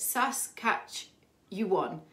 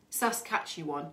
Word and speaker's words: Saskatchewan: lovely someone's told me how to say it sas catch you won saskatchewan thank you um jade i have a question